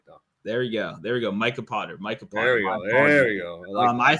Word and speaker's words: Micah: And then it's like Minka Potter. Like, it's Micah.